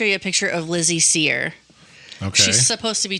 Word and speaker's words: Cyr: Seir like s e er. No, her last name is spelled completely different. Okay. Her last name is spelled C Y R.